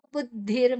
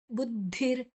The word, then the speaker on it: ಬುದ್ಧಿರ್: ಮೊದಲೇ ತಗೊಳ್ಳಿ ಮೈಯರ್ಪಿತ ಮನೋ ಬುದ್ಧಿರ್ ಮನೋ ದೀರ್ಘಕ್ಷರ ಬುದ್ಧಿರ್ ಬು ಆನಂತರ ದ ಮತ್ತೆ ಮಹಾಪ್ರಾಣ ಧಿ ಬುದ್ಧಿರ್ ಎರಡು ಬೇರೆ ಬೇರೆ ಅಕ್ಷರಗಳು ದ ಮತ್ತೆ ಧಿ ಮಹಾಪ್ರಾಣ ದ ಮಹಾಪ್ರಾಣ ಅಲ್ಲ ಅಲ್ಪಪ್ರಾಣ ಇಲ್ಲಿ ಮಹಾಪ್ರಾಣ ಅಡಿ ಒತ್ತಿದೆ ಬುದ್ಧಿರ್ ಅಲ್ಲಿ ವಿಸರ್ಗದ ಉಚ್ಚಾರಣೆ